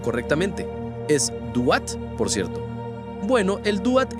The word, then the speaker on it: Duat: Te preguntarás mientras intentas pronunciarlo correctamente. Es Duat, por cierto.